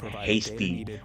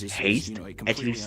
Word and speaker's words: HASTE: electron so that's what hasty or some would also go going to pronounce it as haste proven technology to the gold architecture.